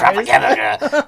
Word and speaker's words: Tropicana: She's going to be at the Tropicana. What the hell do you say that name? Tropicana. Yeah, the Tropicana. There's no R's. You're not rolling your R's. Tropicana.